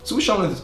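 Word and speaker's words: schauen: word to watch something sushan sushan is the right way to say but my friend said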